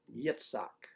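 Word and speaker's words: יצחק: says and he laughed the Hebrew verb for laughed is pronounced Yitzhak which is that also the Hebrew for Isaac so is God just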